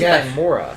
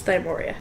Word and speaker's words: Thymoria: I've been saying it wrong this whole time. I thought it was Thymora. It's Thymoria.